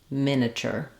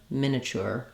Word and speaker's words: miniature: about getting those shorter unstressed syllables to become more linked and easier to say that would sound like CH iture miniature or chure iture miniature um okay so thanks